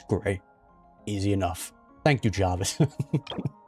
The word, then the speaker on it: Graeae: Just pronounced as Grey.